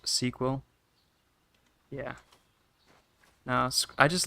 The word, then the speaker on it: SQL: SQL is pronounced sequel.